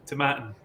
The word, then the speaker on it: Tomatin: it's move like saturn to matan yeah so you start the word as if you're saying tomato and then at the